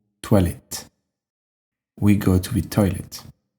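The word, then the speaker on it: toilettes: in English is toilet tolet you might have noticed by now that when there is an S at the end we don't pronounce it and if you take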